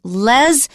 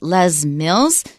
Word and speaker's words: Les Mills: So Les, you might think it's Les because it could be short for Lester, but they pronounce it Les Mills.